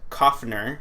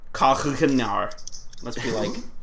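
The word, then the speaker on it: Coughenour: And District Judge John Koffner, I'm pretty sure that's how it's pronounced, because it's spelled like cough, like actual cough, and then N-E-R, or N-O-U-R, so. Yeah, Koffner.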